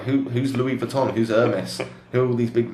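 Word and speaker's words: Hermès: Hermes, for those of you who are not in the know, it looks like Hermes. Yes. Hermes, but it's Hermes, if you want to pronounce it correctly.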